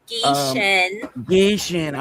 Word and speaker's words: Gieschen: Gieschen.